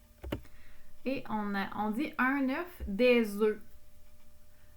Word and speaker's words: œufs: Et on dit un œuf, des œufs. On ne prononce pas le F à la fin quand c'est au pluriel.